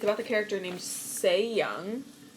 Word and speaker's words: Sae Young: about the character named se-young I know that you pronounce it se-young because I she is Korean and this character is